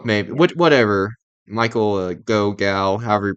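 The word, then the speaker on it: Gough: Alfred like Michael Michael gal or I think it's pronounced gal he's really good as Al in these movies go I don't go May what whatever Michael go gal however you pronounce it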